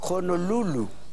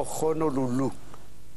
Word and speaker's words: Honolulu: la capital de hawai se puede pronunciar de ambas formas pero no dos casos la h es aspirada honolulu o honolulu el inglés aspira la h como ocurre en house etcétera etcétera hits etcétera para